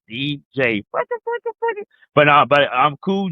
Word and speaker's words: DJ: You spell it when you say it. D and a J. So I got to make that clear because everybody is a D E J A Y. No, it's DJ.